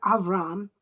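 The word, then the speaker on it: אברם: a nation for himself Abram pronounced avram in Hebrew was Abraham's birth name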